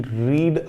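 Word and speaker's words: read: Sentence ही गलत है, क्योंकि रीड का फर्स्ट फॉर्म होता है रीड, सेकंड फॉर्म होता है रेड, थर्ड फॉर्म होता है रेड। हालांकि स्पेलिंग्स तीनों की सेम होती है, लेकिन रीड रेड रेड, अगर वो रीड बोल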